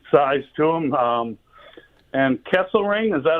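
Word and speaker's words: Kesselring: Um and Kessle Ring, is that how you say it?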